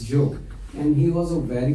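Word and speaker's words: Job: spelled as j o b but it is pronounced as Joe English is a funny language and that's you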